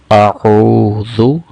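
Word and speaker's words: أعوذ: لمبا کیا جائے گا۔ اور پھر اگلی غلطی جو کی جاتی ہے وہ ذال کو زا پڑھا جاتا ہے۔ تو درست تلفظ کیا ہے؟ اعوذ۔ حمزہ اور عین کی آواز میں بھی فرق ہونا چاہیے۔ اعوذ، اعوذ، جیسے پہلے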